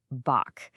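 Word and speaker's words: bach: And let's do one more iconic Kiwi word boach. It's pronounced just like batch.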